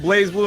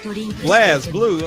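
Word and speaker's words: BlazBlue: No, it's Just because like the E ain't there don't mean you don't pronounce it right.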